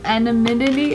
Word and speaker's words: anonymity: You want anonymity? Anonymity. It's pronounced anonymity, okay?